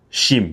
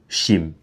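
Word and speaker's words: Chime: Shim, je vais prononcer en français. C H I M E Shim.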